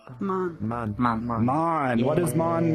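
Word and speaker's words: 万: How do we pronounce this kanji the on'yomi? Man.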